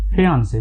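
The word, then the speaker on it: fiancée: इसमें क्या है फियांसे में उसमें FIANCE है, इसमें FIANCEE है। बस इसमें थोड़ा सा यही अंतर है, नहीं तो दोनों का जो प्रोनाउंसिएशन होता है वो फियांसे ही होता है।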